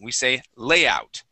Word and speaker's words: layout: or layout okay well the accent goes at the very beginning we say layout try that layout lay good good okay